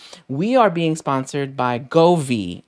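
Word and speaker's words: Govee: are being sponsored by govi and that's exactly how it's pronounced because i actually spoke to the rep i know there's been a lot of different questions as to how it's pronounced and this is right govi so i'm super excited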